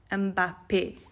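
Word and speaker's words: Mbappé: Mbappe, okay? So that E tells you that it's an A sound at the end.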